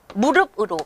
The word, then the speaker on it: 무릎: 신체상의 그 구부러지는 거기요 무릎이라고 하는 것도 피읍이 적혀져 있지만 한눈에 보면 한 눈에 발음하면 무릎으로 비읍으로 발음하게 되죠 이런 식으로 우리가 전체적인